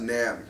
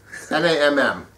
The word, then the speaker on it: NAMM: It's like, So it's pronounced Namm, but either way. Yeah, you know, they got... yeah, Namm, whatever. But, I'm probably pronouncing it right. It's fine. N-A-M-M.